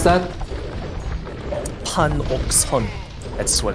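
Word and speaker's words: 판옥선: How do you pronounce that? Panokson.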